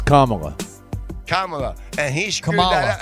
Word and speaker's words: Kamala: you think I know nothing about her it's Kamala Kamala and he screwed that hey he screwed